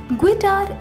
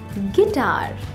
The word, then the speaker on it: गिटार: गिटार इसका गलत उच्चारण है। इसे सही तरीके से बोलने के लिए पहले बोले गी, फिर बोले तार, तार नहीं तार, जोड़ते हुए बोले गिटार।